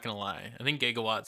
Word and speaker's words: gigawatts: would say it gigawatts it's definitely G in some research for the movie it used to be pronounced jigawatts then there was a cultural movement where they just stopped calling it jigawatts and started saying gigawatts okay yeah because I